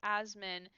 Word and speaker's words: Assman: Okay, so if we're talking weird last names, I knew a guy whose last name is pronounced Asman, but was spelled Assman.